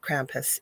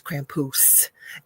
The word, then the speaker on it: Krampus: Laurel and he said you say it wrong it is not Krampus it is Krampus and uh told me